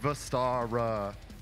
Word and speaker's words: Vestara: In case you don't know, we are Vestara, pronounced Vestara. Not Vestara, not Vestira, not fucking anything else.